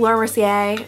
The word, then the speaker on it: Laura Mercier: the Laura Mercier silk okay I know it's pronounced Laura Mercier but I love saying sier sier okay whatever